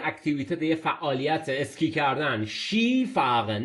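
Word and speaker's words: Ski fahren: یه فعالیت اسکی کردن شی فاغن نمیگیم اسکی فاغن شی فاغن این شی فاغن ما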